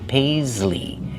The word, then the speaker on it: paisley: That pattern is called paisley. Paisley. Use the long a like say and pay. Pais. Use the z sound like zebra. Paisley. And the long e like green beans at the end.